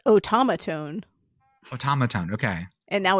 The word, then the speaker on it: automaton: keep getting it wrong it's not an omaron omat automatone automatone automaton I why is there an r in there I don't know there isn't one it's automatone automatone okay and now